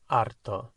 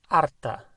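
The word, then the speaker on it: harto: then we say estar arto to be fed up and if it's referring to feminine estar arta so a girl would say estoy arta i'm fed up and arto is spelt h a how would you say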